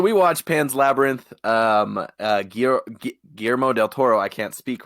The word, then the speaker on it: Guillermo del Toro: watched Pan's Labyrinth gear Guillermo del Toro I can't speak right now I believe it's pronounced quill lair mo del Toro well well again well you need to roll your R's but in case you